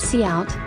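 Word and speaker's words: cout: brackets will be executed c out pronounced c out is an object used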